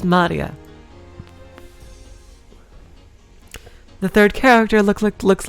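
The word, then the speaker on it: 真里亞: Her name is written blah. Of course, blah is pronounced Maria.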